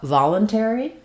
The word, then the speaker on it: voluntary: We have first syllable stress. Letter O says the ah sound. So typically in the stress syllable, letter O is going to say the ah, like in father. So we have va. Letter U says the schwa, unstressed schwa, valen. Then we have our air diphthong there and our E sound.